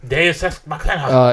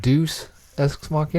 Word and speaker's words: Deus Ex Machina: Deus Ex Machina. It's pronounced Deuce Ex Machina. Deus Ex Machina. No, it's Deuce Ex Machina.